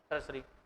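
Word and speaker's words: tertiary: ठीक है, हाँ टी, हाँ TAR सही है, तो टर्सरी, TIARY, टर्सरी से लिखा मैंने, वो TIO आ जाता है, वहां पर से S बोला जाता है।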